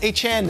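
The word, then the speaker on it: Achane: Shout out to Dolphins PR guru Ann Nolan, who chimed in with Jason during the break saying it's Achan now. Devon Achan.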